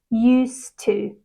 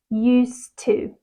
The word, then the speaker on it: used to: is silent okay and we connect the two words together so it sounds more like used to used to I used to work